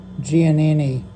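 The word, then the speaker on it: Giannini: I pronounced it wrong in my other video. Gianini.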